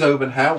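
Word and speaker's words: Olbernhau: One is Obernhau, which is a bigger town. Obernhau is spelled O-L-B-E-R-N-H-A-U.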